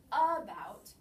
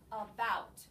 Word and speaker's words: about: or no stress so in my word about we do not say about we say about so the bout is the accented syllable you will find schwanz